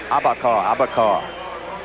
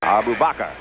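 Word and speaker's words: Arbubakrr: booker reese and hassan abba abbakar dave logan in the middle that's still not the way to pronounce that name by the way abu bakr ed judy jeff davis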